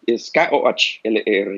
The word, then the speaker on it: Koller: ¿Es Kholer Koller? ¿Está bien? Es Kholer, y sí, es Koller.